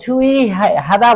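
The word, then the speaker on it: 주의하다: आउछ हैन अनि छु छुइ हादा भनेको सावधान हुनु यहा दिएको छ यसलाई पनि लेखौ छु इहादा है छुइहादा भनौ छुइहादा यो उ बिचमा आउदा के भन्ने इ उच्चारण है छुइ हादा भनेको सावधान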